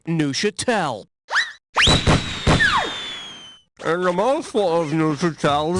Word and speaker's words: Neuchâtel: Now, I want you to tell me which of the following phrases best rhymes with this word. Hee-haw gel, boofa bell, P.U. they smell, or who the hell? The cheese is pronounced Neuchâtel.